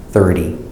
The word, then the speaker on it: thirty: and here we have 30 these dresses on the first syllable 30 and the pronunciation